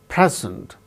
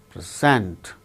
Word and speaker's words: present: we record the proceedings present the first syllable gains stress present present when it is used as a verb the second syllable gains stress like present present the present who